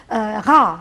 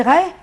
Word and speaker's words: Ré: Ra, le dieu soleil, a prononcé Ré en langue française.